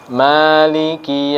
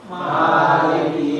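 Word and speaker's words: مالك: Maliki Yaumiddin, tapi yang ini kita bacanya panjang di mim. Maliki Yaumiddin. Sekali lagi. Maliki Yaumiddin.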